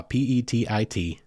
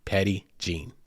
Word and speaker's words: Petit Jean: episode title you saw p-e-t-i-t-j-e-a-n and you're probably thinking yo that's French bro that's not Gene and that's not Petty I get it it